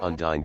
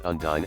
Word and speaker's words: Undyne: Later I thought it was cool that her name sounded like Undying, so that also served another purpose.